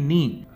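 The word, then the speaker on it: knee: है फिर हमारा घुटना यानी कि नी यहां स्पेलिंग में के साइलेंट है हमारी नीचे की लात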